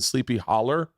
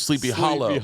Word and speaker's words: Sleepy Hollow: the headless horseman was in sleepy holler but it was sleepy hollow they say they pronounce their o's so hometown girl okay